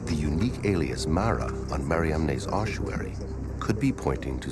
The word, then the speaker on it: Mariamne: But what about the spelling of the first name in the inscription, the unique Mariamne, never found before or since on any other ossuary?